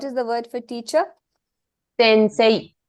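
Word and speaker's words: 先生: say say in say to elongate the say in this particular word it has an a sound you add e because that is the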